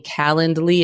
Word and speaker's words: Calendly: that you understand that I am saying calendly it's not spelled like calendar it's c a l